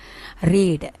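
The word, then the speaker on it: read: இங்கேயே அதே தான் வரும், ஆனால் இது எப்படி ப்ரொனவுன்ஸ் பண்ணுறது, அதே ஸ்பெல்லிங் தான், ரீட் ஸ்பெல்லிங் தான், ஆனால் எப்படி ப்ரொனவுன்ஸ் பண்ணணும், ரெட். எப்படி ப்ரொனவுன்ஸ் பண்ணணும், ரெட். ரீடுனா என்ன, பேசும்போது எப்படி சொல்லணும், ரெட்டுன்னு எழுதும் போது அதே தான், பட் சொல்லும் போது ரெட்டு.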